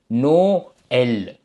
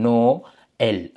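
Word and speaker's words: Noël: நோக்கு முதல் அந்த இதுக்கு பிறகு இருக்கிறது பிறகு ஓகே நோ எல் என்று நாம் வாசிப்போம் ஓகே இப்ப தமிழ்ல நான் இங்க கொடுத்திருக்கேன் நோ எல் அதேபோல இப்ப இஸ்ரேல் நாட்டை வந்து நாங்க பிரெஞ்சுல வந்து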